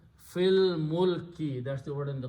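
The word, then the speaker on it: في الملك: You read them together, do not pronounce al, the hamzatul wasl. Fil mulki, that's the word in the Quran.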